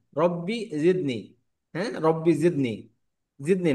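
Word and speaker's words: رب زدني: রব্বি জিদনি, হ্যাঁ, রব্বি জিদনি, জিদনি না, রব্বি জিদনি, জিদনি, জিদনি, জিদনি। যা, যা। জিহ্বার আগা, জিহ্বার আগা সামনের দাঁতের গোড়াকে টাচ করে উচ্চারণ হবে, হ্যাঁ।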